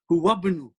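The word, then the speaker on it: هو ابن: Huwabnu. Huwabnu. You will pronounce hu wabnu. You won't pronounce alif.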